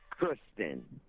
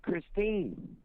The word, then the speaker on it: Christine: know, having sex with Kristen. You didn't even say her name right. You kept saying Kristen, and her name's Christine.